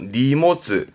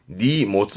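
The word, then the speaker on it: 荷物: 얘긴데요 짐은 발음이 그렇죠 니모츠 니모츠 니모츠 이렇게 같은 자이지만 상황 따라 발음이 바뀌네요 그럼 정답은 요거랑 요거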